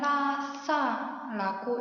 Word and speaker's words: 라싸: 라싸는 다음과 같이 쓰고 읽을 때는 라싸라고 읽어요.